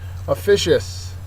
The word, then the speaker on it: officious: Officious is next, and I have the picture of the Scooby-Doo gang there for officious, and it's perfect. It's an adjective, second syllable is accented, and the definition is